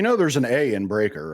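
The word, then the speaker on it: Breakker: You know, you know there's an A in Breaker, right? Oh, is it Breaker? I thought it was Breer or something like that. I thought they spelled it weirdly. No. Okay. It's breaker.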